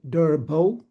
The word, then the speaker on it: Derbo: My first name is pronounced Derbo like D E R B O and my last name is.